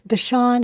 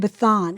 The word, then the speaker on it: Bashan: may refer to Bashan, because the pronunciation is, it's the same from one tongue to another. Right. It's Bashan and Bathan. Right. Or Batan.